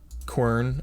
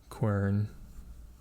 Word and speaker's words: quern: sure all right guys corn okay how you pronounce it quern quern yeah that makes sense I mean the Q